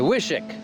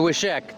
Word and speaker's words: Wishek: well it's the it's the wishick not the wishek the wishick that's what I'm told apparently I've been saying it wrong it's not actually supposed to be said like it's spelled it is not a wish it's a wish or a vishek something like that all right fire it